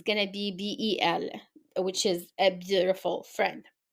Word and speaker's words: bel: you will see that we use Bell which is Bel l it we pronounce the same way as the feminine form but it has only one L we use the second